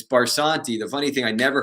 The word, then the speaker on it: Barsanti: about it in so many years but it's barsanti the funny thing I never heard it ever